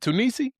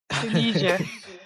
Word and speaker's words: Tunis: Tunisi. Did I say it right? Tunisia. Tunisia. Tunisia. Tunis. No, it's Tunis.